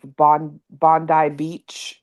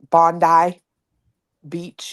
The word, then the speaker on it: Bondi Beach: Dude, I've been watching this Bondi Beach. I think is how they say it. Bondi Beach in Australia.